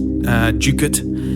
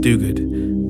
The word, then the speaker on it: Duguid: and mostly people say Duguid, but what's the correct pronunciation of your name? Well, in Scotland it's pronounced Duguid, and in England it's pronounced Duguid, but I get called a lot worse, so take your pick.